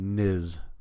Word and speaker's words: is: So that Z sound in is, because that's an S, but it's pronounced as a Z.